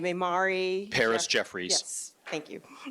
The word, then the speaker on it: Imari: will allow you to give the correct pronunciation of your name, and then we'll close it out. It's Imari. You were right. You're right. Thank you. Thank you. No, but your full name, Imari.